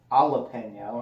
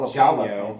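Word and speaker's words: jalapeño: Y, it's usually like jalapeno. Jalapeno? No, it's not jalapeno, and it's not Jalapeno. jalapeno. It's Peño. jalapeno. It's like an H. So it's Peño. like Hata.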